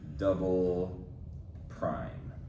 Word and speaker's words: double prime: That's how we pronounce that with that double apostrophe there. We would say double prime.